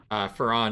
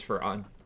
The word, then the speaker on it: Farron: we've made up, but Farron is Farron. That is the like developer pronunciation.